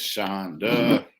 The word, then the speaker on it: Shonda: I know sometimes she's a little bit at work, but Miss Shonda, pronounced like Honda.